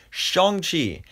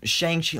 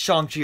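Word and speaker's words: Shang-Chi: to pronounce it right shong chi yeah i mean i mean just shang shi like the way it spelled i always kept messing it up like you know that that's how i think it would sound by the spelling but no it's shangchi or at least we assume it is um and i finally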